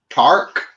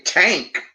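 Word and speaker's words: THRAK: been released on vinyl tark or top i used to say tank but i think it's tark how do you spell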